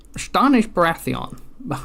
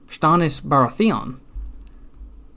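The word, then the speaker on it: Stannis Baratheon: tell you about Stanish Stanish barathon no wait no how does he say he says Stanis barathon Stanis Baratheon stop pronouncing your names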